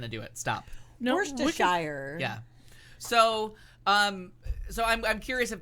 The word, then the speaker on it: Worcestershire: It's like trying to pronounce all the letters in Worcestershire. You're not going to do it. Stop. No, Worcestershire.